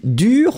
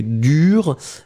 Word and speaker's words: dur: Pronunciation will be exactly the same. So whether it's the masculine, dur, D-U-R, feminine form, dur, same pronunciation, D-U-R-E.